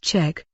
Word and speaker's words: Zschech: to the fact that people are going to stray with saying it correctly pronounced check Darlene manages to find